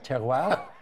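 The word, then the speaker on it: terroir: me with some of the tournament terminology here ter is that how you say it ter ter okay m which means what ter refers to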